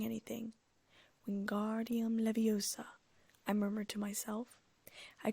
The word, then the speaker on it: Wingardium Leviosa: it wrong Hermione snapped across the room it's Wingardium Leviosa make the car nice and long you do